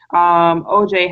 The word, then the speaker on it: Ojai: Well, my Facebook name is just my name, OJ. It's OJAI, like Ojai, like the place in California.